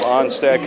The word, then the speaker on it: Onstad: Jacob Onstad committed the foul, so that pronunciation was indeed correct.